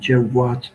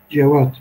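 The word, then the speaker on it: Cevâd: olması gerekir diyorlar yani Cevat değil de cevap şeklinde telaffuz etmek daha uygundur diyorlar Biz de onu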